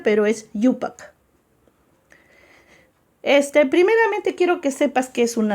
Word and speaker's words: IUPAC: IUPAC se pronuncia, pero es IUPAC.